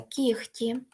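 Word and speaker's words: кігті: оглушуються але є винятки ніхті бачите тут оглушується кіхті легко вогко дьогтю Тобто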